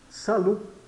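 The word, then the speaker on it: salut: con con sal Olá Salu Observe o T mudo Salu eh Bom dia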